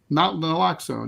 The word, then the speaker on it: Naloxone: It's not really known why this dropped so fast, but experts say that I always have a problem pronouncing this. Naloxone. Naloxone, yeah.